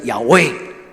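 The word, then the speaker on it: Yahweh: 但是伊读的音叫做亚威，亚威的意思就是上主、我的主啊，亚华、亚威，佮另外一个翻译加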